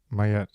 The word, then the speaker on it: Maat: you choose to pronounce you choose to use the name Mayet, Mayet. Is that right? Instead of pronouncing it as Maat, Maat, Maat. So why do you choose that pronunciation, that name, instead of the more common one?